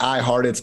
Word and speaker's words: Hartitz: dm on twitter at i heart it's i-h-a-r-t-i-t-z it seems like it's spelled like like i heart tits but no that's just my name it's kind of weird